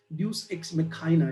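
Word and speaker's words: deus ex machina: उसके बाद में हॉरेस वॉन्स अगेंस्ट ड्यूक्स, एक और नया टर्म आ गया, ये भी बहुत कॉमनली यूज किया जाता है, ड्यूस एक्स मेखाइना, इसका प्रोनाउंसिएशन है।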